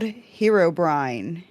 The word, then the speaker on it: Herobrine: His name is Herobrine. Hero Brine. Yep. It's spelled Hero and then with a one word combined. B R I N E. Herobrine. like you're brining some food.